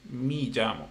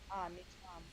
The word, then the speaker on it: me llamo: But the pronunciation you say mi llamo, but it's me. Me llamo.